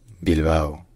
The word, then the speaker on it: Bilbao: First in Basque, this city is called Bilbo. Bilbo. Bilbo. Bilbo. And then in Spanish it's called Bilbao.